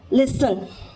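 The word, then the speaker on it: listen: उसके बाद में टी देखते हैं कहां-कहां हमारा कौन-कौन से वर्ड्स में टी भी साइलेंट होता है। ठीक है? तो लिसन लिसन लिसन यानी सुनना सुनना।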